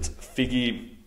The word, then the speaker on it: Figgie: a better one okay well that settles it figgy uh figgy is uh described to be a